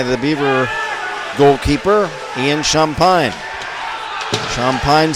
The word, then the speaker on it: Champagne: beaver goalkeeper Ian shampine shampine spelled c h a m PA a GN looks like champagne but the Louisiana pronunciation is champag Here Comes Ethan gner